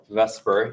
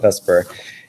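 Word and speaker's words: VSEPR: this is V S P R which we pronounce vesper even though it's should be like the separ I don't know we call it vesper and it stands for veence shell electron pair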